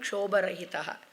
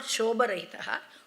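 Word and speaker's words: क्षोभरहितः: Ayam Deshaha, Deshoyam Kshobarahitaha. So Ayam Deshaha Kshobarahita, not Shobarahitaha, Kshobarahitaha. Your pronunciation must be proper because the meaning will just be the opposite.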